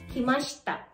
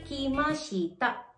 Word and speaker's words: kimashita: And take note may bubble divoicing ulit tayo which is kimasta. Kimasta. Nawala si letter I sa she. Kaya hindi mo siya ipo-pronounce as kimasita. Kimashita. But kimasta. Kimashta.